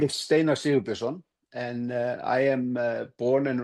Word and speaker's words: Steinar Sigurbjörnsson: We have Camilla Jönsson and Steinar Sigurbjörnsson. Did I pronounce that right?